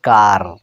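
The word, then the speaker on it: car: যেমন দেখুন, কা, এটা উচ্চারণ কি হবে? কা। আর এখানে আমেরিকান ইংলিশে গিয়ে উচ্চারণ হবে কার। তাহলে এটা নিয়ে কত না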